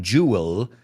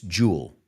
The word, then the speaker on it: jewel: I want you to say this word with me too, because it's not jewel, it's jewel. Jewel. Es una sílaba, realmente.